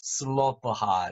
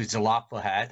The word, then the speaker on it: Zelophehad: do you remember and then this person pronounced it as zelapohat of the five dollars of zalapa head five dollars of zlata hat there aren't that many tracks where native speakers actually pronounce this word the latter hat although one person pronounced that name as sloppahot so i would stick to zelapohat as more native speakers pronounced as zlata had so let's try uh